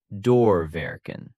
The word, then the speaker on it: doorwerken: Pronounced doorwerken.